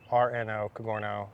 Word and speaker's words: Cogorno: garno golf channel spell that last name for c-o-g-o-r-n-o cagorno like digiorno pizza rhymes with zorno we're the goth mafia